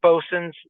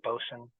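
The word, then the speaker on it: boatswain: the Skippers and adult leaders um so there's bosin uh that's what boat Swain that's how you pronounce that area bosen um Keyport Naval torpedo station merwell R Ru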